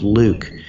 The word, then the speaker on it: LIWC: and Word Count, LIWC, which I pronounce Luke.